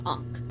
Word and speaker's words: Ankh: Yeah, Ankh. That's what it is. Ankh. Just with the weird H at the end.